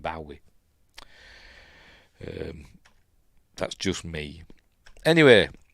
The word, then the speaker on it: Bowie: I've always, ever since I was a kid, I know it's pronounced Bowie, but I've always pronounced it Bowie.